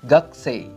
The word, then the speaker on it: gakusei: kalau kedua huruf ini terletak di antara huruf k s p h f j&t atau C maka huruf i dan u tersebut enggak enggak usah dibaca contohnya adalah suku e terusannya suku e-tab yg dibacanya Square Lalu ada ada lagi kokusai dibacanya poksay lalu berikutnya adalah gakusei dibacanya gak C nomor 5 ada huruf